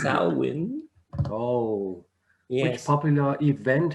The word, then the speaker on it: Samhain: Samhain, Samhain, it's not Shemaine, it's Samhain.